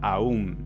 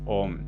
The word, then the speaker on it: Om: De ahí viene, por ejemplo, el mantra Aum, A, U y M. Por regla de fonética, cuando una A se junta con una U, el resultado es O. Por eso decimos Om.